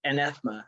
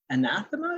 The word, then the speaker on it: anathema: we're doing here is sort of like I antha is that the right word is that how